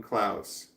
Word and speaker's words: Klaus: Hi again, Klaus. Claus? Claus, like Santa Claus, but this spelled with a K.